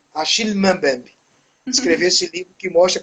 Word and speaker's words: Achille Mbembe: Tem alguns chamam Aquiles, mas como ele é francês, como é camaronês e camarão, a segunda língua, né, do colonizador é o francês. Meu pai, que fala francês, disse que a pronúncia mais adequada é Achille Mbembe.